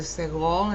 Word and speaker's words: segol: This one underneath the N here, which looks like a triangle of dots, is called a segol, and it's a short E sound, generally.